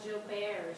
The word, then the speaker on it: Joubert: This is actually my husband, and he does have a recessive genetic disease called Joubert syndrome is how it's pronounced, which can affect the liver.